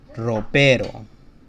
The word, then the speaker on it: ropero: So if the starting syllable has the R located at the beginning here, then we have a hard sound. So like the word dresser in Spanish that I've had on Spanish Couch is ropero.